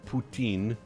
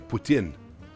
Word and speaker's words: poutine: Just an FYI, officially poutine is pronounced poutine, not... Wait, what? Or poutine. It's, well, if you're doing it in French, sure. Or poutine. But we're not French, so poutine.